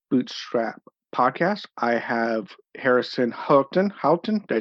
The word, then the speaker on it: Houghton: Okay, and today on the O'Connor Bootstrap podcast, I have Harrison Houghton. Houghton, did I say that close? Again with me? You're getting better. It's Houghton.